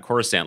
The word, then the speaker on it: Coruscant: out and everyone just tossing around Coruscant like they knew it was a soft C.